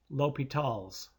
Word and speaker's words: L'Hôpital: In the French language, the letter S in his name was silent, so that the rule is pronounced L'Hôpital's.